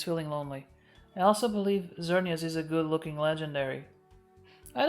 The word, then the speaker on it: Xerneas: Although the other one is pronounced Xerneas as a Z, so maybe I'm wrong.